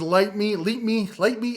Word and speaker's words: Lytmi: That is Leap Me. I can never pronounce it right. They told me how to pronounce it. Leap Me.